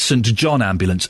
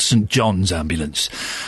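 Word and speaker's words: St John Ambulance: Again, if we if we've learned nothing from the advert, we now know it's St. John Ambulance, not St. John's ambulance. And boy, do they get upset when you say it wrong.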